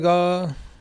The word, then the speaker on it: gars: Bonjour, les gars. He says, he spells it G-A-R-S, but the R and the S is silent in French.